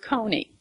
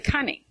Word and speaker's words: coney: For instance, the word coney. Okay, actually, the pronunciation of a coney is a cunny.